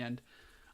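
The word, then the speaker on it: へ: This one's pronounced e, even though it's a he, and then ne, and more.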